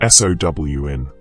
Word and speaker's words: Samhain: Samhain, pronounced Sown, falls on the 31st